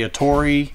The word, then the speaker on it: Atari: There's different things out there about how you say it. I was raised to say Atari. If you listen to me talk long enough, I'll say Atari, Atari.